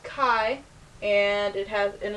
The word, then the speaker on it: chi: is the this is a symbol for Kai Square it is called Kai and it has and